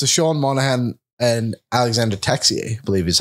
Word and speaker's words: Texier: But the other 2 on that list are Sean Monahan and Alexander Texier, I believe is how you say his name, right?